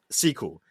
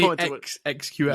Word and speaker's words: SQL: SQL. Did you say XQL? No, SQL. I just said it wrong.